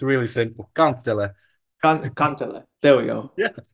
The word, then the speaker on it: kantele: I don't think I'll be able to pronounce that. No, it's really simple, kantele.